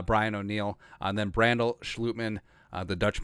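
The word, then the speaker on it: Schlottmann: by the way, Brian O'Neill, and then Brandel, Schlutman, the Dutch pronunciation, Chris Reed, and Jesse Davis as your 9, and then Oli Udoh, maybe Vidarian Lowe on the practice squad.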